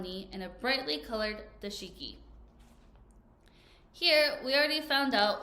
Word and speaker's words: dashiki: uh oh my volume's down one more time dashiki dashiki so say that you're reading the book and you don't know how to pronounce a word like this word here CU